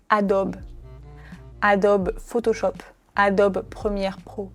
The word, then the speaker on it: Adobe: Cette marque, on la prononce Adobe. Adobe Photoshop, Adobe Premiere Pro. Mais normalement, on dit Adobe. Encore une fois, comme pour Nike, on ne prononce pas le E à la fin du mot.